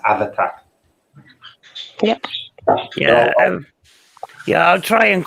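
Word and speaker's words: Abhartach: you class it as it's actually pronounced have attack yeah yeah i'll try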